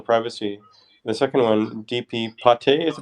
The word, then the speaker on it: PATE: the second one dp pate is pronounced probably right yeah like the french liver pate makes sense the north